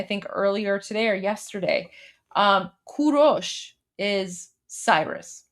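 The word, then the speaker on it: کوروش: earlier today or yesterday, Kurosh is Cyrus, right? So the proper pronunciation of Cyrus the Great, who's the founder of the Persian Empire, in Persian, it's Kurosh.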